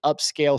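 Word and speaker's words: Upscayl: tools use a dedicated upscale soft software there's one that I've been using which is free and it's called upscale but it's spelled funny it's called it's it's spelled upsc a y l upsc a y l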